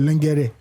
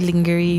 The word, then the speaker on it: lingerie: You call it lingere. Actually, I met somebody say my lingerie. That girl, It's actually called lingerie.